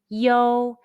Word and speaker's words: iu: letter iu in pinging the pronunciation is yo it's a combination of the mandarin chinese e and o sounds say yo it's like the yo in the english phrase yo check this out say yo now mimic